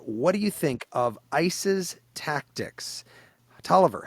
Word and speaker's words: ICE: I'm not asking you about ISIS tactics, like ISIS. It's ICE, I-C-E, apostrophe S tactics.